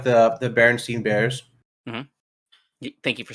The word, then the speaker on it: Berenstain: No, it's pronounced the same. It's Berenstain.